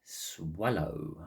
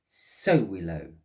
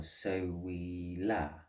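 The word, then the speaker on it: Sowilo: the universe, this would affect me with that swallow, I think it is pronounced. I was close. It's Sowillow, or Sowilla.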